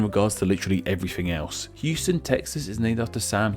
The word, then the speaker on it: Houston: sure you can see there has an identical name to a city in Texas and while they are spelt the same they aren't pronounced the same which believe me I found out about in my neighborhoods or NYC video in Texas we have the city of Houston were NYC with Houston Street though I must wonder